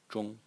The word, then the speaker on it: 忠: So anyway, the second character in the series is pronounced zhong, zhong, in the first tone, and its meaning is faithful or loyal.